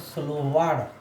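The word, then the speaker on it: словарь: मैं प्रोनाउंसिएशन में बता रहा हूँ, उस प्रोनाउंसिएशन को भी आप रिपीट कीजिएगा। डिक्शनरी, जो डिक्शनरी होता है उसको स्लोवार्ड, स्लोवार्ड, स्लोवार्ड बोला जाता है, ठीक है।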